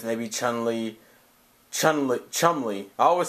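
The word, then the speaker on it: Chumley: chun lee chun li chum lee i always say i always always mispronounce his name and call him chun li even though that's not what it is get your game on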